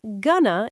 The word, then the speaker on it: going to: But what's interesting is that many learners know gonna, but they don't realize that going to in their textbook is actually pronounced gonna in real life.